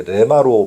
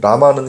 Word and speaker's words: 레마: 개혁 계정의 라마를 이제 레마로 바꿨다고 말씀드렸죠. 어 사실 라마든 레마든 뜻은 같습니다. 다만 어 제가 아까 말씀드린 것처럼 라마는 히브리식 발음이라고 보시면 되고 레마 레마는 당시 유대인들이 삶의 현장에 쓰던 실제 아라머입니다.